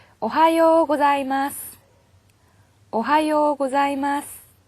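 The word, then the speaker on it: おはよう: 자, 이 하 발음은요, 자, 우리나라 사람들은 보면 입이 앞으로 몰리면서 긴장을 하지 않으면은, 오하요, 오하요처럼 이 하음의 H 자음이 약해져가지고요, 와처럼 발음될 때가 있어요. 그래서 긴장을 하셔서요, 오하요, 하 발음이 또렷하게 들리도록 발음을 해주셔야 되고요.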